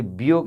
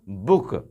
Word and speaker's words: book: यहाँ देखिए BIRD, bird means चिड़िया, बर्ड, बियर्ड, बियाइड, बियाइड, BOOK, बियोक, ये बियोक होगा ना आपके अनुसार, लेकिन ये बियोक नहीं, हम पढ़ते हैं क्या इसको, बुक।